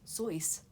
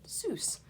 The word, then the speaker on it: Seuss: Seuss his name is Theodore Seuss but in Germany it was pronounced sois Geisel he changed his name to dr. Seuss he was pronouncing it sighs but in America everyone pronounced it Seuss it was ok with that because to him it rhymed with Goose for mother Goose and he used the